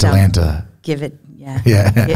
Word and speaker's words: Atalanta: I'm going to try to pronounce this properly. Atalanta. Into it. I like it. It's Atalanta.